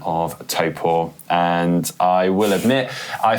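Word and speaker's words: Taupō: we've gone down this route again we've said TPO um but we're too far in now so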